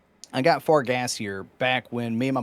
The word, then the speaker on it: Fargassier: So, I'm assuming it's French and it's pronounced Fargassier. Is that correct?